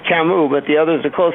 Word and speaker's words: Camus: The last one is Camus, but the others are close enough. Okay, Camus.